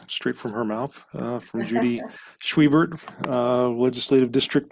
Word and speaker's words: Judy Schwiebert: I am Judy Schwiebert, and I would be honored to earn your vote.